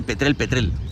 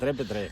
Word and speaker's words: Petrer: a veces la expresión, hay gente que dice, yo soy de Petrel. Sí. Que es a partir de una determinada demarcación territorial. El que te dice eso, la L no la pronuncia. De Petrer. Correcto.